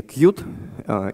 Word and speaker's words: Qt: Но так или иначе, они настаивали на произношении Qt именно за счет того, что это ассоциируется со словом «милый».